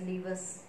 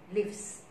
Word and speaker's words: lives: Don't read, don't pronounce as livers. It's just lives.